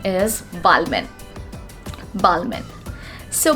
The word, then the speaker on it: Balmain: Balmain? No, not at all. it is going to be Balmain. Balmain. B-A-L-M-A-H. We are not going to pronounce N over here, and it's going to be silent, and we are going to pronounce it as Balmain.